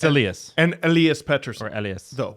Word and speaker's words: Elias: laugh at was um we say Elias lyol it's Alias and Alias peton oras